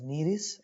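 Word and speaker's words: Nereis: of the examples and it is pronounced as neres aquatic annelid peritema earthworm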